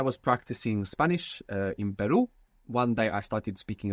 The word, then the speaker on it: perro: going to come so initial r or two RS together inside the word is going to pronounce this Double R so the word for